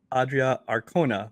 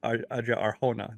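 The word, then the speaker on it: Adria Arjona: say it wrong uh actually think I heard her pronounce she made it sound like adrea Arona but it's actually Adria Arona the J is an H so yes um and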